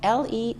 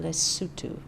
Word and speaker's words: Lesotho: africa and pronounce the name of the country it's spelt l-e-s-o-t-h-o but they pronounce it lesotho not lesotho oh that's the way it looks